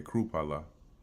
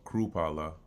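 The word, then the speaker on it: Chrupalla: Proposes AFD co-leader uh Krupalla. Believe that's how you pronounce it. Let's find out. Uh Oh, Kru. Okay, Krupalla. Similar to the K. Okay. Kru. So, Krupalla um Alternative for Germany uh AFD co-chair Tino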